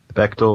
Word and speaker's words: Bechdel: How do you say it? Bechdel, Rachel. Bechdel.